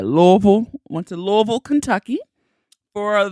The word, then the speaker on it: Louisville: think it's so amazing that's how you say it because I would say Louisville but I love how they say Louisville once in Louisville Kentucky